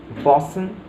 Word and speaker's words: boatswain: middle of the word, such as bosun for the word boatswain, similarly near for the word never, and forecastle for the word forecastle are also used.